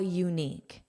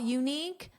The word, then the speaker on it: unique: the the article, but this is pronounced as u you. So it's actually a consonant sound and that's why we have a a unique and it's easier to say a unique than an unique.